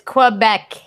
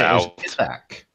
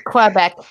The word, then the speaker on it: Quebec: say it right either it's Quebec Quebec yeah I said Oh back yeah no it's quite back that's literally got queue in his name I'm with Scholz and